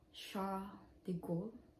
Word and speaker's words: Charles de Gaulle: to, oh my gosh, so nagpunta kami ng Charles de Gaulle. So ang pronounce daw ng name niya is Charles without S, Charles de Gaulle, which is the station.